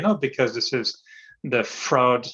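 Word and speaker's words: Freud: because this is the fraud I say fraud fraud or the psychologist fraud I always call him frog but apparently it's a wrong pronunciation yeah we'll call it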